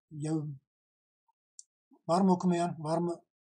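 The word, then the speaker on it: يوم: Gördüğünüz zaman arkadaşlar, okunuşta burada yevm.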